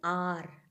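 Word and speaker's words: hour: telling an how yes here H is silent and we are telling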